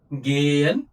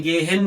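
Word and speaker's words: gehen: और एच अगर बीच में कहीं पे अंदर किसी वर्ड के दिख रहा है तो हम उसको साइलेंट कर देंगे। जैसे हुंड हंट फ्रोग ना गेयन अब मैंने गेहन नहीं बोला है गेयन क्योंकि एच नहीं है मेरे पास मैं ये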